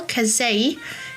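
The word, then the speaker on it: casei: Then we have L kazi.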